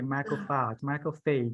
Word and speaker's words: macrophage: fish remember micro phase you have to say the last three words you don't don't swallow and say macrophage how to pronounce it exactly remember that okay once